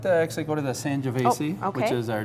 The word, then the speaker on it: Sangiovese: Sangiovese. Is that how you Yes, pronounce it?